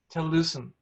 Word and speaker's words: Talusan: It's basically, you just pronounce it like Talusan, except you say ta instead of tu.